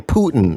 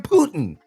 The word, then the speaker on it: Putin: couple of days ago see you're saying Putin and that is spelled p o o t i n you cannot do that that is that is not what his name is Vladimir Putin no it's Putin you got to say it Vladimir vadir Putin